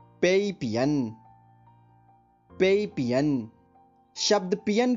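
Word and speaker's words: 西: इस दिशा की स्पेलिंग, जो कि चीनी भाषा में लिखी है, XI। स्पेलिंग एक बार फिर सुनिए, XI। अब इसका ध्वनि वादन सुनिए, शी, शी, शी।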